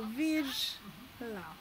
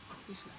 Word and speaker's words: Vizsla: Again, it's a Vizsla. Vizsla.